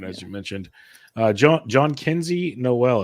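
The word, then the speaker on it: Jhonkensy Noel: you mentioned uh JN John Kenzie Noel as I've been told is the proper way to pronounce it John Kenzie Noel of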